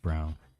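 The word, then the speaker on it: Browne: Well, it was just Brown. See, there's an E at the end of Brown. It's silent. It's Irish, and so is, which is why I'm named what I am.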